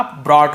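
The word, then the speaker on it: brought: broad broad ठीक है bring का ब्रॉट हो जाता है यहां पर भी जी साइलेंट होता है ब्रॉग ऐसे नहीं पढ़ेंगे ब्रॉट लेकिन जी स्पेलिंग लिखेंगे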